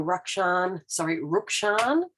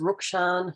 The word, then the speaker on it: Rukshan: So this is again the Real Rukshan. He did say his name yesterday, and I realised I was saying it incorrectly. It's Rukshan, not Rukshan.